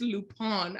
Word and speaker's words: Lupin: I said, so Lupin, that's how it's pronounced. Yeah, and he was like, well, if you want to be correct about it, it's Lupin.